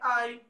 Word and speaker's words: hay: Isso, hay. Hay que se escreve com H.